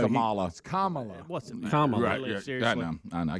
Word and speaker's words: Kamala: now again I know we had to be schooled on how to pronounce her name correctly is it Kamala Harris yeaha Kamala it is so it's Kamala Harris gosh I want to